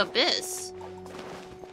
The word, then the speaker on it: abyss: the Y though but the thing is you don't really pronounce the Y you call it the abyss that would be just